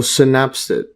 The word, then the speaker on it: synapsid: check this a synapsed I think it's pronounced synapsed let's search this up and here synapsid yeah so synapsid synapsids yeah so the